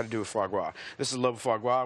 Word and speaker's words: foie gras: I hear a lot about foie gras. Like, there is a big caterers, the chefs, they love it. How do you pronounce that again? Foie gras.